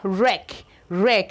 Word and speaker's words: wreck: This law says that when the W and the R begins a word, that the W is usually silent.